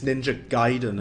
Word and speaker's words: Ninja Gaiden: It's Ninja Gaiden, it's pronounced.